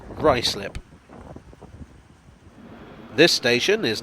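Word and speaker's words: Ruislip: ryslip just looks wrong like it should be ruiz lip but it's pronounced ricelip this station is not south walk but southwark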